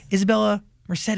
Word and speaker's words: Isabela Merced: Isabela Merced is here, Hey.